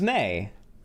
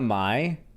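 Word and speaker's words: Mei: I thought it was May. Yeah, it was May, right? It was May. Yeah, it's May. Not Mai.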